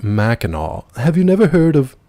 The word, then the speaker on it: Mackinac: But he was like, actually, it's pronounced Mackinac.